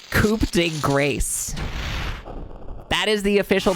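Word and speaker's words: coup de grâce: to know is that tell us how to pronounce it's coup de grace that is the official pronunciation of coup de grace Sorry, I have to focus for this part.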